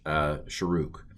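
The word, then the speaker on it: שׁוּרֶק: So this is a long u pronounced u, the Sharuk. Okay, and I realize that looks like it's Shrek, but some of these vowels are pronounced differently by different people. I'm going to pronounce this as Sharuk.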